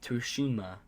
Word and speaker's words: Tsushima: Well, Ghost of Tsushima? I find that very hard to pronounce. Tsushima.